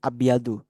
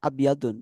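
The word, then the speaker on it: أبيضُ: ya Iya jadi memang kaidahnya itu untuk warna itu kita bukan menyebutkan tapi abyadu makanya ketika tadi ituisu abyadu bukan komisun abyadun Harusnya kan komisun abyadun Tapi kita bacanyaisun abyadu abyadu jadi enggak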